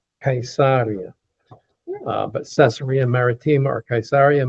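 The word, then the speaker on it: Caesarea: Now, Cesaria Maritima, the correct pronunciation of this, by the way, is Kaisaria. Kaisaria but Cesaria Maritima or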